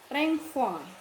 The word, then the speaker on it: renvoi: Tulisannya renvoi bahasa Prancis, bacanya renvoi.